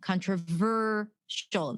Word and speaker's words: controversial: Maybe you say controversial, you put the stress at the end, right? That will not be clear. If someone's expecting to hear the stress on controversial, the ver sound, the ver syllable, and they hear it